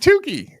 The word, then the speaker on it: Tooke': It's just Tuki. It's It's Tuki.